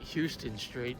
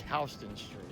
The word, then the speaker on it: Houston: I know some people might call it Houston Street cuz it looks like it's spelled that way, but it's actually Houston Street.